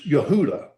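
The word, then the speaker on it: יהודה: And so, the word the Hebrew word for um Judah is Yehudah. And it has the uh waw U sound in it.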